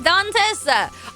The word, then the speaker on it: Dantis: It's Dantis. Oh, Dant. Oh, gotcha. But he and I get a kick of everyone's different pronunciations. What she said. All right, Dantis. I wasn't sure if it was like, you know, Dante, which is kind of like, you know, I wasn't sure, but okay.